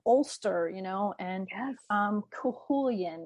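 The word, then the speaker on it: Cú Chulainn: you know and um kulan that's the pronouncing of his name because I always wanted to call it CH CU chain or something like that but Welsh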